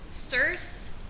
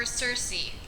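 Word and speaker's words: Circe: my reading habits diversity cerse or cersei i've heard it pronounced both ways so i'm just going to say both so i don't get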